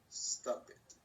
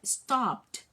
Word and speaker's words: stopped: Stop it. No, stopped. Clap it. No. There's no E sound.